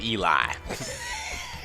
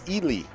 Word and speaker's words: Ely: mean you you know i gotta go with eli that is not that is not the common mispronunciation most people say ellie uh when they say yeah ellie yeah but